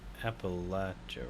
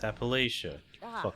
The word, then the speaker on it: Appalachia: talking about but okay you know what's pronounced Appalachia right no it's Appalachia wrong